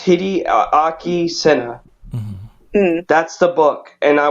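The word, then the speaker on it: Hideaki Sena: It's called Parasite by Hideki Senna. If I pronounce that right. It's Hideaki Senna.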